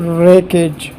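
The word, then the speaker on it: wreckage: ये इस तरह पढ़ा जाता है, रेकेज रेकेज। तो यहाँ पर W जो है ये भी काफ़ी हद तक साइलेंट है, रेकेज। लेकिन यहाँ पर साइलेंट वर्ड जो बनता है वो C है, रेकेज।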